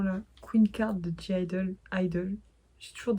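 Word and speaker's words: (G)I-DLE: Queen card de jaildle idle j'ai toujours DJ idle parce qu'il y a un G en fait entre parenthèses mais je suppose que s'il est entre parenthèse et qui ne se prononce pas et moi je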